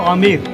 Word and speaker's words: Amer: Local public को आमिर, AMER, B misprint होगा, silent होगा, आमिर बोलने को।